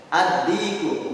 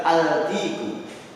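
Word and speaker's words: الديك: Ad-diku bukan al-diku.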